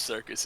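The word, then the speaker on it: Syrcus: That's how you know it is pronounced that way.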